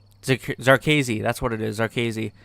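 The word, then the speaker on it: Zherkezhi: The only thing we really found out is that the guy's name that I always forget how to pronounce, Zarkazi, that's what it is, Zarkazi.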